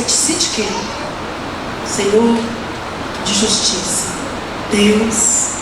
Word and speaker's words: Tsidkenu: Uns produzem pronunciam Tsidkenu, outros pronunciam Tsenu, mas pelo que eu conheço é Tsidkenu.